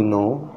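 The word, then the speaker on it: know: मैं बता चुका हूं के एन ओ डब्लू साउंड देता है नो का क्योंकि इसमें के साइलेंट होता है तो इसलिए बराय मेहरबानी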